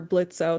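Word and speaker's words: Blitzø: Um, so and I know you are a writer and voice actor for Blitzo the O is silent and yes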